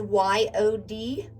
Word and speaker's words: Yod: The Hebrew letter associated with the Hermit card is Y-O-D, pronounced Yod, meaning hand.